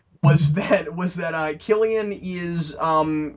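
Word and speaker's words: Cillian: up and like 40 people were like It's pronounced Killian that's so much cooler I thought it was silan because it's it's a sea I thought it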